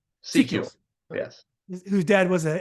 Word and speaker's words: Secules: How do you pronounce Scott's last name? Secules.